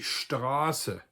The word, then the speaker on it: Straße: So if I have words like die Straße, which is a long A, if I were to spell that with a double S in order to